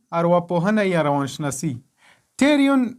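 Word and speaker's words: pterion: لکه سایکولوژي، دلته له پی نه وروسته اس راغلی ده او پی نه ده تلفظ شوی، داسې نه دی ویلي چې په سایکولوژي. بل مثال ده ټیریون، دلته له پی نه وروسته ټي راغلی او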